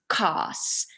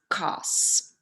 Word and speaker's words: kaas: When you put 2 a's next to each other, it doesn't say ah, it says ah, so it changes a little bit.